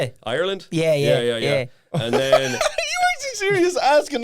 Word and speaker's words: Ireland: You have to say the word ire like something you really don't like in land, you know?